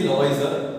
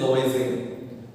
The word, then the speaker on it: Lavoisier: You know, dear students, whenever there is a vowel before an R, it is not pronounced Lavoisier. They don't say Lavoisier, they say Lavoisier.